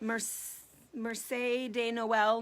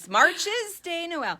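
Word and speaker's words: Marché de Noël: Marche de Noel, maybe, something like that. It's spelled Marches de Noel if you want to be, really American and butcher it. Marches de Noel.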